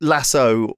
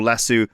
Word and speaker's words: lasso: Like I mean it lasso or lassu. We don't use lassos commonly in in No, they're very uncommon. I say lasso. Most people Americans say lasso like a lasso.